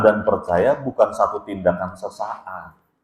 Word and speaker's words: sesaat: Jadi yang dimaksud mendengar dan percaya bukan satu tindakan sesaat. Apalagi tindakan sesat. Sesaat, ya, bukan sesat. Cara bacanya salah.